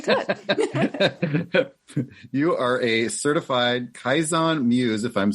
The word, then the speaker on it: Kaizen: Yeah, so it's Kaizen, which was actually, I'll tell you a very brief history of what Kaizen is.